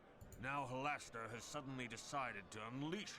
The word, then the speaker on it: Halaster: think i think my hallister character is just halston uh let's see halaster halaster i'm not i'm never going to pronounce it halaster i'm going to be pronouncing hallister forever um yeah so anyway